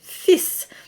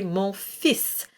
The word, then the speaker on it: fils: And a good example of that is the word fils. So the son of God, or my son, for instance, would be mon fils. And so we drop the L and just pronounce the S.